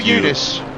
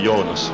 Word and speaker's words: Johannes: it this way i is it jonas or eunice it would be johannes jonas okay there we